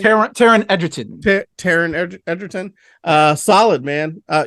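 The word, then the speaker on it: Taron Egerton: how do you say his name Taryn Edgerton Taryn Edgerton uh solid man uh it's almost got to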